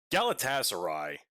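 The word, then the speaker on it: Galatasaray: Galatasarai, which apparently that is how you say it according to some of the commentators I was listening to.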